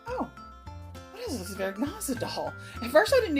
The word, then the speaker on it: Zwergnase: And she told me that the way it is pronounced in German is Zwergnase.